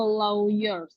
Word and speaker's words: lawyer: Oh, berarti she hires a lawyer. Untuk pada kasus itu? On the case. For the case. Oh, for the case. Nah, lawyer itu bacanya lawyer ya, bukan lawyer.